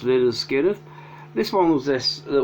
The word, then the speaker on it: Lynyrd Skynyrd: their best known album their debut pronounced little skinner this one was this